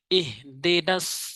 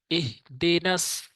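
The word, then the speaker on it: ٱهْدِنَا: এখানে ছোট হা উচ্চারণ করতে হবে, এখানে আবার বড় হা উচ্চারণ করা যাবে না। এরকম বলা যাবে না, বলতে হবে ইহ। ইহদিনাস, সতের উচ্চারণটা শক্ত করে উচ্চারণ করতে হবে। ইহদিনাস, নাস এভাবে, ইহদিনাস সিরাতাল মুস্তাকিম।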